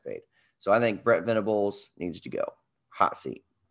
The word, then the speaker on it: Venables: I'm probably leaning towards Venables. Did I pronounce that right? Yeah, Brett Venables.